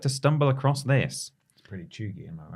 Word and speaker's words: cheugy: Pretty chuggy, am I right?